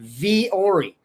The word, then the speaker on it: Vuori: But I learned it's pronounced Vori.